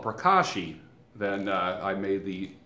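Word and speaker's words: pracaxi: have um you have marula oil you have prashi prashi oil can you see that you have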